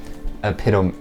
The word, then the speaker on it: epidote: made of an orange carnelian and a green epidote. That's how you pronounce it.